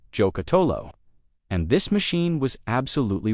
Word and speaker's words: Giocattolo: Number two, Giocattolo Group B, pronounced Giocattolo.